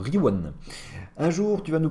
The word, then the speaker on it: Rion: Rion, ça se prononce comment? Riwan? Bah alors, Riwan.